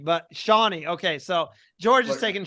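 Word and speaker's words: Shonee: saying her name wrong is it Shoney right or is it Shawnee no no you said Shawnee Mike I think it's Shawnee I think it's Shawnee Shawnee I keep saying Shoney but Shawnee okay so George is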